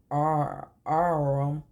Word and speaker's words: arm: Sure it's an arm, your honor. He pronounced it arum.